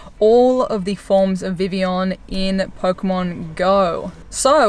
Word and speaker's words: Vivillon: happening in the game before you start calling it Viva lion it's Vivion it's kind of like the double l in like French pronunciations of things that came out with the Kalos region let's save you